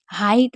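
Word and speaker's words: height: हाइट में ई आई को आई पढ़ा जा रहा है, याद रखिएगा ई आई अगर होता है तो उसको आई पढ़ते हैं।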